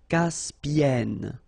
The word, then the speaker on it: Caspienne: Caspienne.